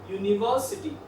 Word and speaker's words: university: So these are the words: university, U. That's why it is here. Again another unicycle. Again the a article is placed. It means that the correct pronunciation is uni, that is Y.